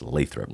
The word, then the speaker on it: Lathrop: about what's going on in Lathrop and that's pronounced Lathrop Lathrop Lathrop California is that is that kind